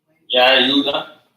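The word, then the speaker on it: יהודה: How do you say Judah in ancient Hebrew? Yahuda.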